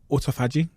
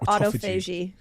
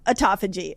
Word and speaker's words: autophagy: People say either call it um autophagy or autoagi. People say it different. You can tell me I said it wrong. I kind of landed on autophagy. I feel like autophagy is the best way to say it.